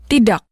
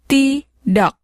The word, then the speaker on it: tidak: The K at the end of a word is often pronounced with what's called a glottal stop.